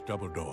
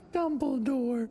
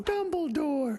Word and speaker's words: Dumbledore: the young man step forward as you wish double door I'm gandal it's pronounced dumble door double door no dumble door you said double door vrus